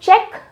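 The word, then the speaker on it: Czech: हैं the country is चेक Republic how डू we pronounce it चेक जैसे चेक होता है ना ऐसी तरह से प्रोनाउंस किया जाता है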